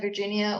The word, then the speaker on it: Virginia: name is Virginia you can pronounce that Virginia or the closest that you find most comfortable my pronouns are they